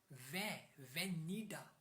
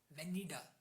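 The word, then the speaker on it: venida: बी आई E when वेनीडा वेनीडा नॉट वेनिडा वेनीडा वेनीडा वेनीडा the spelling of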